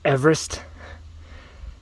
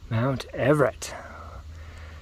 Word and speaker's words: Mount Everett: No, this is not Everest. Mount Everett.